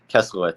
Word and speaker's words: Keslowitz: Kesselhaut, Steven Kesselhaut. Exactly how it's spelled, but it's spelled exactly like it sounds.